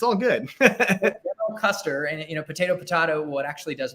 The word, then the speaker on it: Koester: So it's actually Koester, like general, but like you're in the ballpark, so you count. It's all good. General Koester, and potato, what actually does matter.